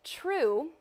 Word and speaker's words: Trieu: We're calling it True. I'm going to say it like your last name. It doesn't sound any different, but I'm saying it in my head.